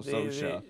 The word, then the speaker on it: Saoirse: Yeah, it's like I just thought of it as like Sammy Sosa, but with an SH in it. You know, so Sosa.